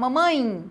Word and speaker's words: mamãe: Por exemplo, quando eu falo mamãe, a gente não fala mamãe, mamãe, fala mamãe, como se fosse um I no final.